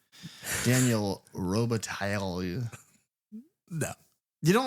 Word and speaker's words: Robitaille: They should have pronounced the L's, though. Daniel Robitaille.